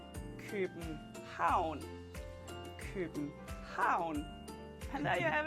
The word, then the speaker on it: København: And then we have town, which is stressed. So we say København.